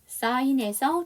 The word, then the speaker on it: sign: 사인에서 쥐가 묵음입니다.